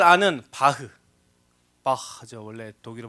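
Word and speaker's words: Bach: 사람을 치료하 쓰였죠이 예 더도 여러분이 잘 아는 바흐 바죠 원래 독일 발음으로 예 여러분 바흐 다 누군지 아시죠 예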